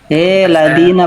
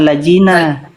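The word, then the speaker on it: الذين: bacanya. Monggo dibaca. Dibaca Pak, coba Pak. Innal ladzina, Ladina bukan lajina.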